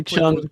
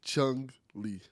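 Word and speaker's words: Chun-Li: You say Chun. Come on. Come on. D Chun, get rid of the G. Chung Lee. No. You just double down on the G. It was a hard G.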